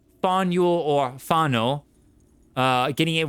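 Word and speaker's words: Faneuil: The name of this building is pronounced fuel or fo.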